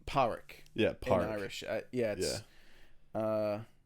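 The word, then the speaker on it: Pádraic: Park Park yeah Park it's spelled padraic that's how you would read it in English that's right yeah but it's like powerick yeah yeah uh it's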